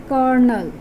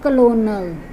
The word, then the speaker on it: colonel: Now next word is kernel. But if you look at the spellings, there is not k sound, there is not k letter, and L is also there, but we are not supposed to pronounce it as L sound. It will be changed into sound, like bird, flirt, heart. So it is kernel, not colonel. It's not colonel, it's kernel.